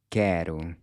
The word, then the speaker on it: quero: So you want the tip of your tongue to just BARELY tap **THIS** ridge right above your front teeth—“quero”… “quero”. Then finally, you might’ve noticed by now that the “o” sounds like a “u”—“quero”.